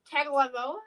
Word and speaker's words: Tagovailoa: Tagovailoa.